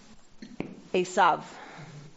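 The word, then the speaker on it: עשו: be is is and in Hebrew it is asav so you can do whichever one you want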